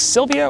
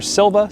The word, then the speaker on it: Silva: This is a basic Silvia or Silva style compass. I've heard it pronounced both ways.